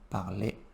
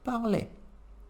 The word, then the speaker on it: parlait: A pronúncia do je, tu, il e il, no plural, é igual.